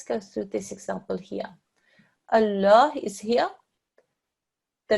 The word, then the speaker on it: Allah: well done ok and here there is a word Allah the letter just before that actually carries a stroke is a ball carries a fatah this lung is a thick and heavy well done so when